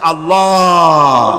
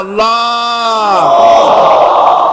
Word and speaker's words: আল্লাহ: আল্লাহ পাকের উচ্চারণটা হচ্ছে, আল্লাহ পাকের নামকরণ হচ্ছে আল্লাহ। মুখটা একটু গোল হয়ে যাবে, বলেন আল্লাহ আল্লাহ আল্লাহ।